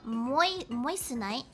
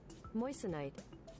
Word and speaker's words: moissanite: mineral is apparently called moistenite let me check the pronunciation because people need to know moissanite moistenite just like yeah